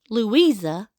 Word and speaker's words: Lavisa: Of Anthony's children, we are directly related by Daniel, who on April 24th, 1840, married Lavisa, pronounced Louisa, Leake.